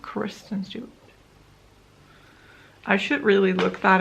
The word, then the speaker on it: Kristen Stewart: Is it Kirsten Stewart? Kristen Stewart. I should really look that up before I just say her name wrong the entire video.